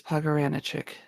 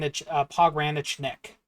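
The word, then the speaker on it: Pogranichnik: I do believe it is pagaranich pog ran pog ranachnik there there's an n there I think it's pronounc at least I assume that's how it's pronounced but yes uh his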